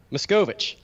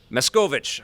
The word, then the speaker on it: Machkovech: how do you say your last name miss Govich miss Govich I didn't want to butcher it I'm sorry I butchered it in your intro there say sorry